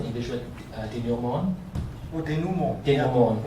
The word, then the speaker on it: denouement: Han's one, the Chinese one was less of a cop-out, because the Chinese one was, how do you pronounce the English word, denouement? Oh, denouement.